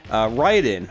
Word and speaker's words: Raiden: other all-time favorite shmups write-in or raiding as some of us in america will pronounce it um and raiden actually